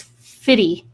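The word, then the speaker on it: FITE: Pretty sure that's Fitty.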